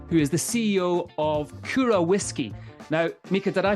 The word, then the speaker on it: Kyro: It's Kyro. It's almost like got a Japanese pronunciation to it. Kyro, like with the very particular Y and the O with dots, the So yeah, it's